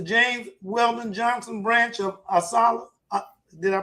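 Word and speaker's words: ASALH: Jared Erso, uh, with the James Weldon Johnson branch of Assala. Did I pronounce that right?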